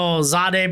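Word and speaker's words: Jahdae: I said Zade because that's the pronunciation.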